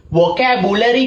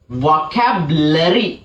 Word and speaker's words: vocabulary: ඔන්න බලාගන්න මෙන්න මේක උච්චාරණය වෙන්නේ vocabulary කියලා නෙමෙයි. හරි කැතයි vocabulary කිව්වොත්. It is pronounced as vocabulary.